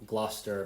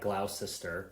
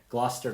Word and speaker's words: Gloucester: They're from Gloucester, Massachusetts, which to Americans looks like Gloucester, but is one of the few times that we pronounce it the way that the British would.